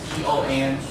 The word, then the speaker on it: tongue: Spelling T-O-N-G-U-E. Even though you have the G-U-E part, you just pronounce it the first part, tongue.